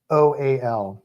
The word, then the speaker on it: shoal: SHOAL. Okay. Like goal, but shoal.